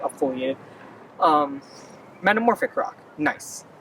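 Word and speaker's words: gneiss: foliate um metamorphic rock nice you know it's spelled g-n-i-e-s-s but you're supposed to pronounce it nice like you're being nice to someone like i never understand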